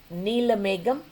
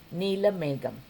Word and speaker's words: Neelameggam: Neelameggam, and just every syllable is pronounced with the same emphasis. Neelameggam.